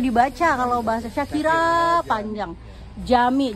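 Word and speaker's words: Cami: Jami. Jadi C itu dibacanya J kalau nggak ada koma yang gantung itu ya.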